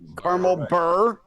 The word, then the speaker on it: beurre: Burr like coal. That's how it's pronounced. Caramel burr.